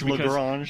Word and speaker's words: Lagrange: Is it Lagrange or Lagrange? It's Lagrange. I think depending upon what part of America or the part of the world you're from, it could be a different pronunciation there. You know, Daryl reminds me all the time it's Lagrange, but if you're from the South, it's probably something else.